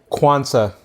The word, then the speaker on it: Quansah: how do you say how do you say your last name properly Kwanzaa Kwanzaa so similar to holiday but with not with a Z its Kwanzaa not Kwanzaa